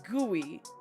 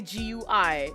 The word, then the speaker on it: GUI: is like yes cuz literally every person pronounces graphical uni user interface GUI as guey. They do not say GUI.